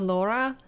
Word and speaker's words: Lara: I always pronounce her name as Laura. That's fair. I mean, she was supposed to be called that after all.